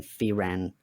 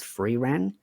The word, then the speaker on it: Frieren: I was still getting Frieren right because I sometimes say it as Frieren, but I Uh-huh. think it's meant to be pronounced as Frieren.